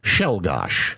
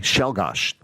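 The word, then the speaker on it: Czolgosz: His name Leon Shelgosh. And if you look at the way it's spelled, it doesn't it's not how it sounded, but it's pronounced Leon Shelgosh. Okay. Shelgosh.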